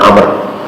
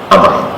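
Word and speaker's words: عمرو: Kalau ada wawu bacanya Amr, ya. Kalau nggak ada wawu bacanya Umar. Kan tulisan zaman dahulu kan tidak ada fathah, tidak ada kasrah, tidak ada dummah, ya. Ini ada wawu, jadi Amr.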